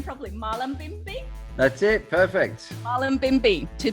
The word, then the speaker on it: Mullumbimby: Mullumbimby.